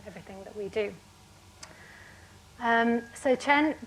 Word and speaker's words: Chen: So CHEN, getting the awkward thing out of the way first, is pronounced Chen. A lot of people say chain.